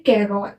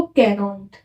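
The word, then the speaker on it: quarante: 40 को बोलते हैं कैरॉन। क्या प्रोनाउंस करते हैं इसको? कैरॉन्ट, है ना।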